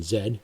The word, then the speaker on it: Z: younger people uh what they affectionately call generation zed or z depending how you pronounce it or questioning and they're asking the